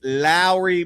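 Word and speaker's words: Lauri: think to the movie, think back to the movie Bad Boys with Will Smith and Martin Lawrence where he goes Mike Lowry. And that's literally how he pronounced his first name. It's Lowry Markin, although it's it's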